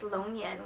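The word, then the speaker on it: 龙眼: I'm not sure how to say it in English, but in Chinese it's longyan, which means dragon's eye because it looks like a dragon's eye, and maybe I'll insert a picture of it.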